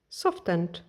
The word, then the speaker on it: softened: Softened. No, it can. See, you're trying to say it, but then you're saying it wrong. It's softened. softened, darkened, lightened.